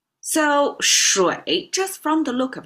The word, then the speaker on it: 水: encounter because this is aqua, water in Chinese, pronounced as shuǐ. So shuǐ, just from the look of it, it has a middle line with a hook at the bottom.